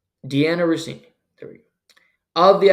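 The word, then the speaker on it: Dianna Russini: Can't even pronounce her name. Deanna Rossini.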